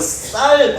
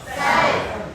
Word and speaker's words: 쌀: 무슨 말 하고 싶으냐면요 우리 경상도 사람은요 여러분 쌀 발음해 보세요. 시작 살 잘 들으셨어요?